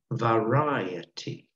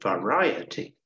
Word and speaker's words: variety: and interesting very unfortunately while it's varied the noun from that process has a different pronunciation that is variety varied and variety you can see the big difference in pronunciation okay all right who